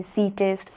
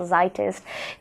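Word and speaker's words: Zeitgeist: इसे कई तरह से प्रोनाउंस किया जाता है, ज़ीटेस्ट, ज़ाइटेस्ट।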